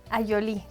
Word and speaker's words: Ayolí: Ayolí. ¿Cómo se escribeí? Ayolí con y acento en la I, la última.